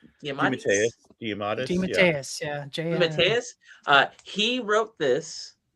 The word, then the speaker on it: DeMatteis: I'm gonna probably mispronounce his last name because I've always seen it in print. GM Diamandis. DeMatteis.